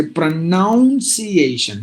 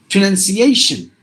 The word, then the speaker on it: pronunciation: so pronunciation sometimes even people tend to say pronunciation no it's just pray look at this word itself prayer none just like the nun C just like the C and here it's a pronunciation pronunciation so here this is